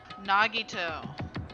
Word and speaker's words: Nagito: Nagito.